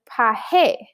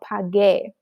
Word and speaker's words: pagué: But then we would end up with paje, right? That GE, the G sounds like an H. Paje just sounds weird and it's nothing, it doesn't sound like pagar, right? We need that G sound for it to sound like pagar. So we have to add a U. We have to do yo pagué.